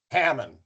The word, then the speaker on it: Haman: How do you pronounce it actually, Troy? Haman. Hammond. Okay.